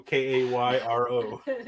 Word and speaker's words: Cairo: his what's his uh even rick says cairo k-a-y-r-o what what's the the